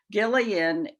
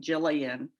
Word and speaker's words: Gillian: want to note that gillian is pronounced with a hard g because she is named after her scottish grandmother and scotland is the